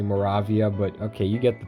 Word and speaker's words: Moravia: actually i just realized i've been pronouncing morovia wrong it's actually moravia but okay you get